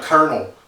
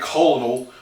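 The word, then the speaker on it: colonel: the same words of Kernel we don't say colonal we say kernel so it's just how you pronounce it you know I buy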